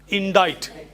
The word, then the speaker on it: indict: This word is pronounced indict. Indict. Indict.